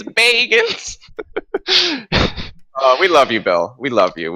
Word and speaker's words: Baggins: I just want to say that's not how you spell Baggins. Well, My OCD is triggered. it's their name. They can spell it however they want. Their parents. Ma and Pa Bilbo Baggins. Bagans. Bagans. Oh, they must hate that. Mr. Baggins, come to the front of the class. It's Bagans.